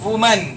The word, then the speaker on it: women: WOMAN वुमन क्या होगा? WOMAN वुमन, एक वुमन. इसका प्लूरल होगा WOMEN. इसे विमेन कहते हैं. क्या कहते हैं? विमेन. प्रोनाउंसिएशन की बात करें तो वुमन सिंगुलर और विमेन प्लूरल.